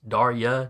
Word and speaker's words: Darya: all right uh uh actually it's darya d a r y a don't worry Dario he gets my name wrong too well she can't hear